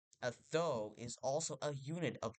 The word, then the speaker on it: thou: Because of this, it's actually pronounced thou and not though.